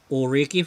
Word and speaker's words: Ulrike: That's how I pronounce her name, Ulrike Faust.